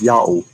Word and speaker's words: Yao: The first inclination of Prof. Tabor to pronounce this word as Yao was correct. Yao is God's name, Yao in Greek.